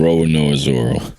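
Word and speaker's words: Roronoa Zoro: Roanoa Zoro.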